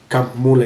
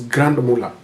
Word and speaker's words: Grand Mullah: At least I pronounced it today, Grand Mullah. Someone once corrected me when I said Camp Mullah. It is Grand Mullah.